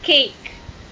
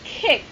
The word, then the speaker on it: cake: For example, you need to pronounce the word cake. All right. Right. Sometimes most of my students, they pronounce it as kick because they don't open their mouth wider.